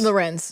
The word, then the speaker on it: Lorenz: say your name Taylor is it Lorenz Lorenz that's how you say her name wow what a whack